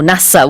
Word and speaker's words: NASA: Just one little question about the pronunciation of NASA. Is it NASA, NASA, or NASA?